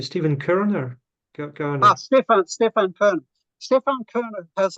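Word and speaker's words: Körner: So Stefan Kerner was a Kant scholar writing in English. His surname is spelled Korner. Yeah, it's a German name, umlaut. Yeah. There's an umlaut over the O.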